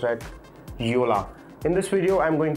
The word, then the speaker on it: Jolla: It starts with a J O L L A and it's pronounced at Yola.